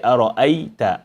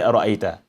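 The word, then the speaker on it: أَرَأَيْتَ: Here, if we are stopping only, we say ara'ayta, ara'ayt. We don't say ara'ayta. We say ara'ayt because we are stopping on it.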